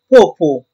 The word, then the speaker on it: Popo: quotidien en deuxiè lieu popo était accentué sur la deuxième syllabe ce qui sur le plan phonétique correspondait exactement à la prononciation du terme populaire allemand qui désignait la partie postérieure de l'homme troisièmement petit popo était